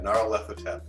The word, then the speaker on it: Nyarlathotep: But yeah, Nyarlathotep is how I say it in my head.